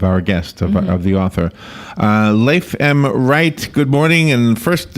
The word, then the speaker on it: Leif: Leif Wright, good morning. And first is how am I doing with your name? Is it Leif or Leif? It's Leif.